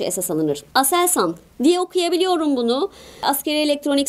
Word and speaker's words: ASELSAN: Aselsan diye okuyabiliyorum bunu. Askeri elektronik sanayi tabii ki bu. Ama bunu bilmene gerek yok. Kuruluşu da birazcık farklı çünkü. Aselsan diye okuyabiliyorsam ASELSAN dememe gerek yok.